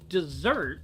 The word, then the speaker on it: dessert: But then you have desert, which is spelled with two S's, but you say it like a Z.